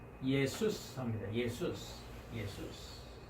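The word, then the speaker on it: Ἰησοῦς: 우리가 말하는 이제 한글로는 예수, 영어로는 이제 지저스라고 하죠. 그래서 헬라어 발음은 예수스 합니다.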